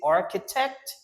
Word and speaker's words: architect: Architect.